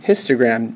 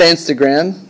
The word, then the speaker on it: histogram: best to use a, rhymes with plistogram. Yes, that's very good. Very good rhyming. Histogram. You got it. Histogram. Okay? Not Instagram. Not Instagram, you crazy people out there. No, it's histogram.